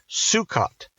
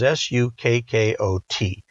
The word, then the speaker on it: Sukkot: It's called Sukkot, and the common spelling is S U K K O T, although it's spelled a number of different ways.